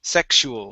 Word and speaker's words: sexual: last one here is sexual so this is going to be x sex sexual my sexual education fiction good yeah with a ks sexual my sexual education